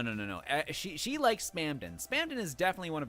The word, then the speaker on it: Spamton: It's Spamptonton. G Spamptonton. No, Squirrel. No, no, no. She She likes Spamton.